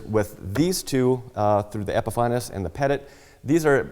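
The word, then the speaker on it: Epifanes: epifaño and yes it's everybody pronounces it Epiphanes but if you call and talk to them they will correct you it's technically it's epifaño as well as a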